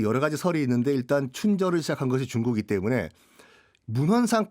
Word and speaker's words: 춘절: 라고 하시는 분도 계시고 춘절 어 이라고 하시는 분들 있음 어째 달라요 우리 발음은 춘절 이 맞습니다 음 그 근데 이것을